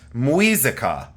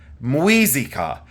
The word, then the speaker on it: Muisca: It is of, I believe it's spelled, let me get my notes again because I wrote this down, Muisca, but it's pronounced Muisca. Muisca, and it's Muisca.